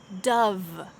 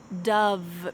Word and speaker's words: Dove: the final one is dove dove be careful with that v sound make sure your teeth are on your lip dub dub congratulations on